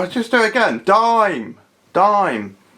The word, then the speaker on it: Dime: It is a dime, actually. I don't know why I said dame. Well, I know I said dame because it's spelled dame, but it would be a dime.